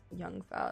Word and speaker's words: Jungfer: No, it is with a Y. Jungfer. Old maid. Alt Jungfer.